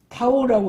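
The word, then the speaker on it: τ: 작은 t, 큰 t, 이건 타오라고 읽는데 그리스 문자로 t에 속하는 문자예요.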